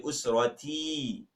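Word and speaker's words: أسرتي: You will say usrati. How do you say my family? Usrati. Again, my family. Usrati. So you will stretch the T, adding a ya at the end of the word.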